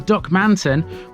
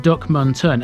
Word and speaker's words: Duckmanton: There's no emphasis on any of the syllables, so rather than Duckmanton with the emphasis on the A, it's actually pronounced Duckmunton, and this was how I pronounced it in the Staveley video.